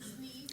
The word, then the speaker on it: Sneed: Sneed.